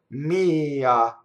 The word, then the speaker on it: mia: going to elide me so all these possessive words mine yours tool to they have the accent on the first vowel me you know Mia okay so it's actually a two syllable word technically right you need an extra grace note to say it so to put all